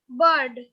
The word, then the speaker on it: bird: The R is almost silent here. The bird. Bird. Okay? Yes, So are you getting me? Please pronounce it with me. What is it? What is it? ma'am. Bird. Ma'am, Yes. Bird. Bird. Yes. It is without R.